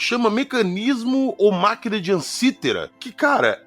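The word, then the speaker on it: Antikythera: E tem que chama mecanismo ou máquina de ansítera, que, cara, é uma máquina fossilizada com engrenagem e tudo mais. É, a pronúncia grega, se eu não estou enganado, é antiquea. Antiquera.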